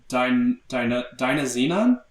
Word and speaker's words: Dynazenon: Dynazenon? Yeah, it's literally Dyna and Xenon put together.